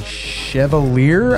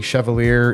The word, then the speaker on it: Chevalier: knives the first one this is the cogent and this one is the Chevalier I think is how you pronounce it both Micarta scales